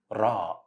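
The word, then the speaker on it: راء: alphabet is letter ra Raw Raw it's same pronunciation of R in the word ring in English but it's a flapping letter that means you should say it as clear one not we don't have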